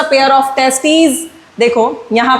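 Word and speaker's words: testes: It includes a pair of टेस्टीज। देखो यहां पे लिखा है टी ई एस टी ई एस। बच्चों ये इसे हम प्रोनाउंस करते हैं टेस्टीज।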